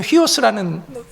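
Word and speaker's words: υἱός: 그 다음에 이에오스, 그 다음에 소테르라는 구원자라는, 휘오스, 아들은 휘오스라는 고 발음을 하고, 그 다음에 소테르라는 구원자라는 이 하나하나의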